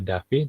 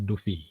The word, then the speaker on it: Duffy: lebih sederhana ini dari dibacanya Duffy Jadi bukan dibaca Davin tapi orangnya dibacanya Duffy Duffy ini tahun 2002